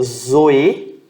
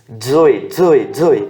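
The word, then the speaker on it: ζωή: Ou você pode pronunciar como Zoe, tá? Pra ficar fácil, existe um nome que existe isso, ó. Edson. Tá vendo aqui? DS. Esse DS aqui é Edson. É o som dessa letra aqui, tá?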